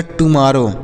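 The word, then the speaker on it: tomorrow: गया र हो गया यहां पर एक आर को साइलेंट करेंगे और एक आर से र हो गया उसके बाद ओ डब्लू से ओ की मात्रा तो ये हो गया टुमारो क्या हो गया टमा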